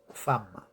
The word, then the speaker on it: femme: Y femme se dice a y no hay ninguna a, pero la e antes de dos m's se pronuncia como a, ¿vale? Aquí en este caso, femme.